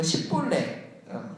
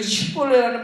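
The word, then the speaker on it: שִׁבֹּלֶת: 그런데 이거를 제대로 발음하지 못하고 십볼레.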